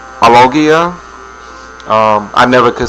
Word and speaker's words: alogia: That's called alogia.